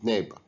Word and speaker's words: neighbor: We pronounce the GH as egg, whereas in these words we don't pronounce the GH, way and neighbor.